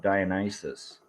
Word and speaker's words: Dionysus: After we sat down, the old man from earlier, who I think uh, Natasha called Dionysus.